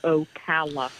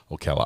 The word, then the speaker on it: Ocala: And remember, it's pronounced Ocala. Ocala.